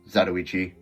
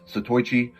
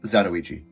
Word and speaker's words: Zatoichi: And yes, it's pronounced Zatoichi. I'm of Northern European descent living in the States, so of course my pronunciation isn't perfect, but I hear a lot of people call this Zatoichi.